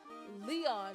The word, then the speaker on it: Leon: Leon ever Leon die because the accento is over the E so it has to be stressed Leon die Regent has been